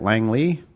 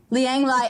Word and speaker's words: Liang Lai: How do you say it? Langley? Liang Lai LLP, yes, in Los Angeles. Liang Lai. Oh, I got both of them wrong.